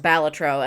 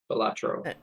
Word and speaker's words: Balatro: So it is actually pronounced Balatro, and I'm probably going to get it wrong every single time. It's a poker roguelike. Balatro. Balatro.